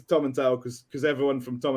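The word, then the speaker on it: Tomintoul: those things I was like well actually it's Tom and tell because because everyone from Tom and tell someone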